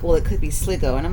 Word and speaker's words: Sligo: that there was a description that referenced sgo Sligo County and this is the correct pronunciation we've asked many people is it SLO I asked her and I said I think it's Sligo and he's like well it could be Sligo